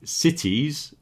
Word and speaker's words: cities: That T sound in America is the same as the R sound in Spanish or it's very very similar. So when you're saying cities, you can say cities if you want to, but it might get confusing if you also say the word series in the same way. Okay? So you got series, you got serious, and you got cities or cities. It's not the same as CDs. Okay, cities.